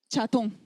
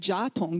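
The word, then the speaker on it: ཇ་ཐུང: hung out with Tibetans, how do Tibetan people tell you to drink tea? Cha tong. They don't say ja tong, do they? Cha tong, right? Cha tong. So it's much more of a natural to the English CH sound.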